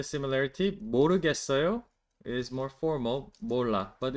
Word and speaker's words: 몰라: That's like very simple, but 몰라 is correct. 왜 그런지 몰래? I will look for that meme right now, actually. JYP. 왜 그런지 몰라. That's not 왜 그런지 몰래. I mispronounced it, sorry.